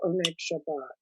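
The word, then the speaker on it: Oneg Shabbat: of what we call what we would say in modern hebrew onik shabbat uh which of course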